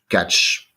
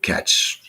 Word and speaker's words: catch: the name of the promotion how do you pronounce it Ricks e catch like catch c-a-t-c-h okay because I wasn't uh thought before